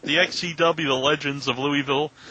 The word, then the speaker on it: Louisville: Do I say it wrong when I say Louisville? Is that how us Northerners say it? No, you could say Louisville. That's right, Louisville.